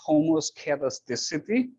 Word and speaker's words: homoscedasticity: It's pronounced homoscedasticity, and try to memorize it, because the opposite of homo is hetero, so it's heteroscedasticity.